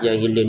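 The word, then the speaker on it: الجاهلين: Jahilin hilnya ini lima e mohon maaf enam harakat. mengikuti yang sebelumnya. Lil muttaqin enam. Jahilin juga en enam.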